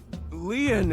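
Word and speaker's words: Lien: are an angel KY my name lean is spelled l i e n in French Leon means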